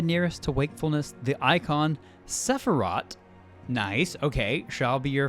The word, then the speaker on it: Sephiroth: As I warned you, Sephiroth poses the most immediate threat. Sorry, I'll say it right, Sephiroth.